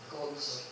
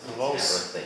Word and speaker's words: clothes: Clothes or clothes. So there are two ways to pronounce it. Close, like a closed door.